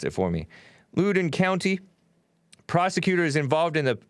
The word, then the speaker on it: Loudoun: and anti-black anti-human parents of loudoun loudoun county lou down county l-o-u-d-o-u-n you pronounce it for me lewden county prosecutors involved in the facebook plotting a